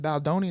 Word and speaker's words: Baldoni: It Ends With Us is a 2024 American romantic drama film directed by Justin Baldoni.